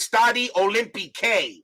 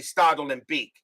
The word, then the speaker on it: Stade Olympique: I found I mean I was pronouncing the first time I was pronouncing study olympique was study Olympic that's how I was doing it until I realized it's supposed to be startled and Beak we go to the